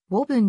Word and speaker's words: ウーブン: していくなおぶー分の発音は本来はボブんであり仮名書きするのであればぼ部分のような表記が本来の発音に近い自動運転技術の